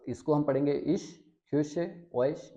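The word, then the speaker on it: ich: जैसे इश, जैसे इश, खुश, ओइश या फिर निश्ट।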